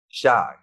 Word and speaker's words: Chi: Shy.